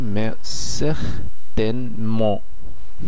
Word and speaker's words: mais certainement: আর এটির বাংলার বিকল্পটি হচ্ছে mais certainement। এখানে আপনারা নিশ্চয়ই খেয়াল করছেন আমি একটি চন্দ্রবিন্দু ব্যবহার করছি, তার মানে এখানে এন কে বোঝানো হচ্ছে। শেষে তেটি সাইলেন্ট আছে এবং এনটি নাকের দ্বারা উচ্চারিত হয়ে যাচ্ছে।